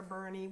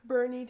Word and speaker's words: Boerne: We also went to Boerne. We drive around a lot, but Boerne, Texas, and I'm pretty sure I'm pronouncing it. Boerne. Even though it's not spelled like that.